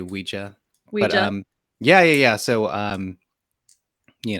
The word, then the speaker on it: Ouija: Ouija I think that most people call it a Ouija because like like it rhymes with squeegee but I say Ouija yeah yeah so um